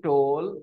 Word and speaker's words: toll: have been saying it has been taking a toll on my health okay to all I have not been pronouncing this word so correctly it should be pronounced exactly like go Bowl toll all right exactly like that okay bold tool